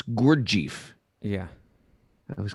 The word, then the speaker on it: Gurdjieff: Is that how you pronounce Guru Jaif? I always said Guru Jeff. But It's not guru. oh, it's Gurdjieff.